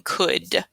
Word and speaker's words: could: The only thing that's different here is in the middle. This is could, could. Don't forget the O in could.